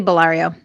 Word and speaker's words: Ballario: up your last name Barrio right that's how you pronounce it it's actually belario balari okay I always figured